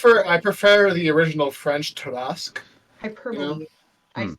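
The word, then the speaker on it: Tarrasque: Jeremy Crawford, it's the Tarask. They didn't put the pronunciations in it when Yeah, they it's one of started.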